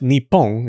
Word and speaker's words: Nippon: Around the Edo period, it softened even more to become Nihon, the pronunciation used today. But Nippon is also still used.